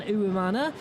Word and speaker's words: Uwimana: Let's say hello to Lilian Uwimana, who's the Human Resources Manager at the Diversity Business Incubator.